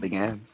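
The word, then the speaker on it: Bagan: Is that how you say it, Began? Yeah.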